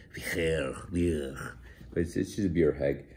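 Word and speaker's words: bheur: I don't know, Eli speaks Middle Welsh, of course, told me how to correctly pronounce B-H-E-U-R. It's like, Vier.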